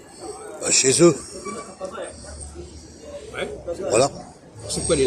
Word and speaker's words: chez eux: Alors qu'est-ce qui prononce dans tout ça? Qu'est-ce qui va provoquer le E? Ouais, qu'est-ce que tu veux? Il te l'a dit. C'est EU. EU, ça donne le E.